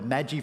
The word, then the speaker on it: Magi: wise man or the Magie from a couple of weeks ago I say Magie or that that's cooking ingredients Now isn't it yeah the Magi that's better better pronunciation isn't it the Magi we looked